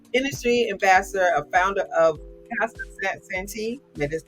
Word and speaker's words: Casa Santi: So David is an industry ambassador, a founder of Casa Santi.